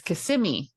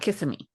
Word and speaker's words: Kissimmee: It's Kissimmee, not Kissimmee.